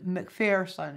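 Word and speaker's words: MacPherson: But there's someone I want you to become familiar with, and that is Kevin McPherson. It's spelled M-A-C-P-H-E-R-S-O-N.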